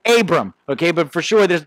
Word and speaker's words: Abraam: First thing we need to learn about Saint Abram is how to pronounce his name. As you see, 50% of his name is A's. So that makes it very difficult to pronounce, okay? So if you are a skilled in linguistics or you grew up, you know, in the Middle East, something like that, you say Abraham, okay?